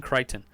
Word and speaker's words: Crichton: you say it right Ben Crichton what's your shirt say on the in deGrasse